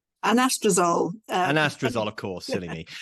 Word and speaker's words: Anastrozole: to talk about this new how do you pronounce it? Anastrozole. Anastrozole.